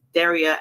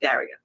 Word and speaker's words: Daria: So I apologize to Daria because her name is actually pronounced Daria and not Daria.